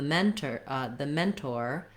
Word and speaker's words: mentor: So the mentor is going to mentor his mentees.